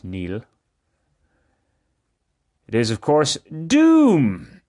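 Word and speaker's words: Niall: ferguson's uh latest work this does look nile but it is pronounced neil it is of course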